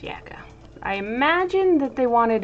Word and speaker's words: Jacke: which would make it jake and but eventually i looked it up and it turns out it is a german name and it is pronounced yaka i imagine that they